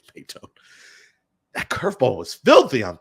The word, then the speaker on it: Maton: It's not Matan. I think it is Maytone. I don't think it's Matten. I think it's Maytone.